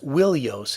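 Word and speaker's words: Wilios: Troy and next is in the old Greek the word that was used was willos instead of ilos there was a w sound at the beginning and that W sound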